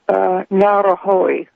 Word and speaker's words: Ngauruhoe: They say that the mountains are called Ruapehu and Tongariro and Ngauruhoe.